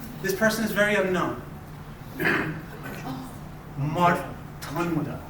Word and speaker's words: Mārtaṇḍa: So you got to curl your tongue up.